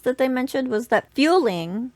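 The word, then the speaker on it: Fuling: Some extra interesting little details that they mentioned was that fueling, which I think they pronounced fooling, actually means ugly one, not goblin like most of us call it.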